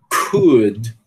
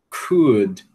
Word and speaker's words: could: Eh, a gente não deve pronunciar esse L, né? Então, ó, could, could, should, would.